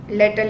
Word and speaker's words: latter: LETTER is लेटर लिखते हो. LATER is time रिलेटेड बाद में. लैटर, सी the pronunciation, लैटर that is LATTER.